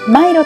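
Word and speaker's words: Milo: yeah yeah me 飲み物のミロはシンガポールではマイロと発音しますフードコートや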